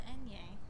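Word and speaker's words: eñe: It's called the enye. The enye? Yeah. Okay, I was doing French. So sorry for mispronouncing your name.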